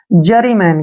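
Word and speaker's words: juryman: जाएगी और एन से न ठीक है ना जरी मैन क्या पढ़ेंगे इसको जरी मैन जरी मैन होता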